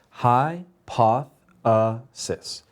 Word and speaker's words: hypothesis: hear it effectively so we remember from last week that when we have a word that has more than one vowel sound we break it into syllables so in this case hypothesis has four vowel sounds hi pathi sis so one of those is going to get the accent which means we're going to say it louder than the other